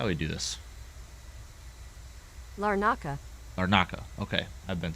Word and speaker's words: Larnaca: I don't know how to pronounce it. Larnaca. How do you pronounce it? Hold on. How do we do this? Larnaca.